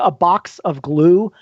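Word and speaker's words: Abatzoglou: g l o uh so it sounds like a box of glue but it's a box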